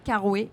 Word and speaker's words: Carroué: est de retour encore, toujours, avec Hotfing et cette fois-ci avec Carouet. J'espère que je le prononce bien. Oui, c'est bien ça.